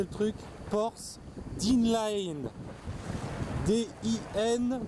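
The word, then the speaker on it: Porth Dinllaen: Alors j'essaye de vous prononcer le truc. Porth Dinlaen.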